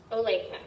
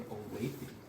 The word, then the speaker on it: Olathe: A couple interesting things I found is we're in Olathe, is I guess the correct pronunciation, and they currently have no missing persons cases.